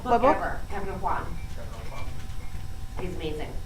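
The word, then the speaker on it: Aucoin: Kevin O'Quan. He's amazing. It's spelled A-U Coin. It's Quan, and O'Quan, he was probably a master of it.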